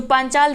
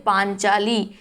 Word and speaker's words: पांचाली: जो पांचाल देश की रहने वाली है वह कहलाती है पांचाली। स्पेलिंग पर ध्यान देंगे, वर्तनी पर ध्यान देंगे। पा में बड़े की मात्रा, पंचाली नहीं होता है, पांचाली होता है।